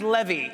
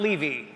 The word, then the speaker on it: Levy: if it goes well tonight my name is pronounced Levy not Levy and if things go south my name is